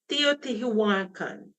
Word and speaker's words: Teotihuacan: San Juan no, let me pronounce this right. Teotihuacan.